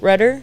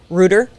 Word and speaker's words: Rutter: My last name's Rutter, but it's spelled Rutter. So I wrote it down as like a boat rudder with D's, and they still said it wrong. How they Still say not it. Rooter.